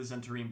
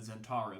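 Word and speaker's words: Zhentarim: like the zent the I always say the zenim but they said zentar so now I I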